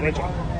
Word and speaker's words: Renshaw: Renshaw. what? Richard? Renshaw. Richard? Renshaw. Renchar. Yes. How do you spell that? Like Crenshaw without the C.